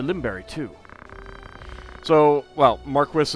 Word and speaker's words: Marquess: berry to so well mark Chris is the British pronunciation they are pretty clearly trying to go for more of a British flavor if not for the you know the fact that I don't think any of the voice actors are British but you know that's what they're going for that's what they went for in final fantasy 12 so I'm gonna probably try to use the the British pronunciation of Marquess that's the first I've